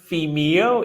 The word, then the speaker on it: Vimeo: And I totally should have known how to pronounce Vimeo.